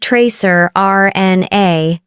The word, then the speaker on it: tracrRNA: They found a previously unknown molecule called tracrRNA, pronounced tracer RNA.